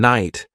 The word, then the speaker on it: night: Words like knife and night have silent letters, which can be confusing for learners.